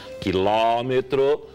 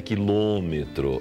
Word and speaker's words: quilômetro: Você fala quilômetro agudo, mas escreve quilômetro circunflexo. É muito comum isso na nossa região. Se escreve com acento circunflexo, tem que falar quilômetro. Entendi. Se escreve com acento agudo, tem que falar quilômetro. Entendi. Então, tanto faz os dois.